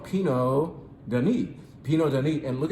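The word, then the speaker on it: Pineau: of a grape called Pino Den Peno den and look at the spelling I'll get that closer to you you can see that Pino is spelled differently p i n e a u I'm not looking at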